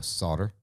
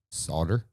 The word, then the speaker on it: solder: way to do it are you pronouncing the ill no solder okay solder you're just kind of barely like I'm just picking up a tiny bit of that silent l in there solder I